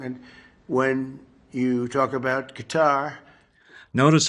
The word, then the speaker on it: Qatar: careful to point out the correct pronunciation of Qar like guitar, lest you offend a local with the balkcanized American version.